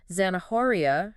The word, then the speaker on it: zanahoria: And then there's zanahoria for carrot, where the H is silent.